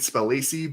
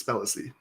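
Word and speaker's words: Spellacy: I've been pronouncing it Spelacy, but I believe it's Spelacy.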